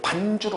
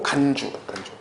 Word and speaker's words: 간주: 발음 똑바로 어떤 사람은 이걸 반주로 알아들어. 반주. 그 반주. 그죠? 반주가 뭔지 알죠? 그거 아니고 간주. 자, 보세요.